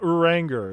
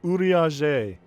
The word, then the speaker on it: Urianger: Not Uranger, it's Urianger.